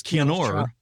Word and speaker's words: Keanu: it looks like Reeves, Keanu, but it's Keanor.